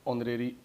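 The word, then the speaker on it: honorary: और यहाँ पे एच साइलेंट होता है, एन R, hair, ऑनर, honest, ऑनरेरी, ऑनरेबल। तो यहाँ पे एच साइलेंट होते हैं, इनके साथ क्या लगता है?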